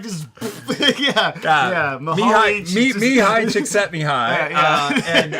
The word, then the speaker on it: Mihaly Csikszentmihalyi: And with the incredibly difficult last name to pronounce of the book that I read. Yeah, Mihaly Csikszentmihalyi. How did you do? Yeah, I can't. He just does it like just. Yeah. Mihaly Csikszentmihalyi.